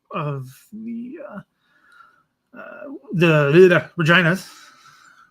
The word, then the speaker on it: Regina: the uh uh the reginas Regina it's a city in Saskatchewan I people think I'm mispronouncing it I am not uh held out against